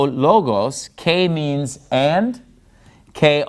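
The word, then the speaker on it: λόγος: And notice in logos, I'm putting the stress on the first syllable because that's where the accent mark is.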